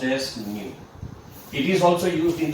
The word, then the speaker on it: nu: It is pronounced as nu.